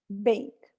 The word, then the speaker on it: bake: some answers right bake bake it ends in bake voiceless even though you see a final e there the letter e bake